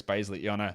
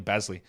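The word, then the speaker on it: Bazley: Xavier McDaniels or Xavier McDaniels we have to accommodate people pronouncing their own names wrong Darius basiliana it's definitely basley I don't know what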